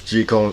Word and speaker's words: Jekyll: yes g cone is the correct pronunciation now before we get started i do